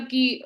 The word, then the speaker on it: coup: लिखते COUP है लेकिन उसका प्रोनाउंसिएशन कू होता है। तो वो जो कू हुआ है स्पेलिंग क्या बताएं? COUP, ठीक है, लेकिन उसको प्रोनाउंसिएट करते हैं कू।